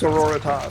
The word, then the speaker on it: Sororitas: I don't know how to pronounce it. Adeptus Sororitas.